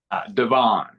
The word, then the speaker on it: DeVane: How did you pronounce your last name again? DeVane. DeVane.